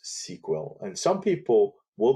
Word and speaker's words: SQL: database is called sql it's written sql but it's pronounced sequel and some people will pronounce sql and they're really not